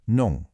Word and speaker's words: 농: We start with nong, pronounced nong, which means farming.